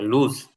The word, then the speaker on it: lose: লস না, এটা লুজ।